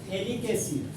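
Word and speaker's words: phthalic acid: Compound को बोलते हैं थैलिक एसिड। थैलिक एसिड का नाम हो गया दोस्त पीएच थैलिक एसिड। जहां पर पीएच आपका साइलेंट होता है दोस्त, इस कंपाउंड का नाम हो गया थैलिक एसिड।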